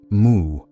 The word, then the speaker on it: Mu: Number not no, as in rejection, but mu, as in as in empty, as in beyond yes or no.